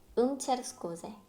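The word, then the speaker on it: cer scuze: 체르 스쿠제 체르 스쿠제 여기 음이 아니에요 라고 하실 수 있는데 이 음이 읽을 때 알파벳 E가 거의 무음이에요. 그래서 음이 체르 스쿠제 라기보다 체르 스쿠제 라고 읽어주시면 되겠습니다.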